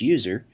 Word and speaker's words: usr: system administrator slash usr often pronounced slash user which contains software that